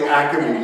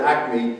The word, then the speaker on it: acme: Like Acme, yeah. We turn a 2-syllable word, acme, into acme, 3 syllables.